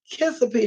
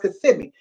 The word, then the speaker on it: Kissimmee: that's what she said she said I think it's pronounced could see me and I mama said not think it's pronounced kissa P so it's like now it's pronounced kissimmee mommy so then they